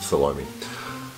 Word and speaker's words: Salome: I pronounce it Salome.